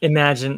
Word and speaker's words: Imagen: I I think I like I'm fairly certain it's imagine. Yes. Uh, but I've been saying immigen for far too long and I apologize.